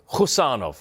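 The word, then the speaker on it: Khusanov: Abdul Qadir Husanov, that's how we pronounce it, isn't it? It's a silent K, Husanov.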